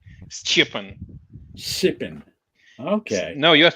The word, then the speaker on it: Stjepan: The J is a Y, but it's not a vowel.